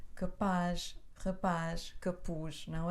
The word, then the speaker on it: rapaz: capaz rapaz que pus mas como acabam com z o acento recai na última sílaba rapaz rapaz capuz não é